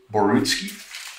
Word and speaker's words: Borutski: of professionalism in light of the crimes that barrowski has committed now basil am i pronouncing your last name correctly is it borutski yeah okay um thanks very much for taking